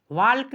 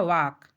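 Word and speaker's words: walk: जैसे हमारा है यहाँ पर वाक, यहाँ पर देखो एल साइलेंट है, वाल्क नहीं पढ़ा जाएगा, इसका शुद्ध उच्चारण होगा वाक।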